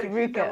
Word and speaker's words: Ruka: It's Ruka. It's pronounced Ruka.